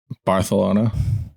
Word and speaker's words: Barcelona: Barcelona. Yeah, they do like a TH thing with the C in Spain, I'm pretty sure.